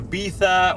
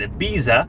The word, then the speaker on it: Ibiza: Model Brooke Burke, she used to do a travel show, and she used to go to Ibiza, or Americans pronounce it Ibiza, and she would go